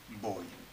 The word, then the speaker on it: voy: But of course in Spanish, as you know, the pronunciation is no different between the B and the V. So In standard Castilian. yeah. So voy, V-O-Y.